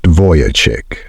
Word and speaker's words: Vujicic: My name is Nick Vujicic, pronounced Vujicic.